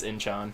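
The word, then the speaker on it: Inchon: just found out that we'd been saying it wrong the whole time it's Incheon let's move on to the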